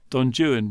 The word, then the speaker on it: Don Juan: look at the poem Don Jan work works because it rhymes with stuff other stuff in the poem whereas Don Juan doesn't